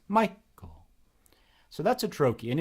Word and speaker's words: Michael: Oh, my first name is a trochee, Michael. It's not Michael, it's Michael.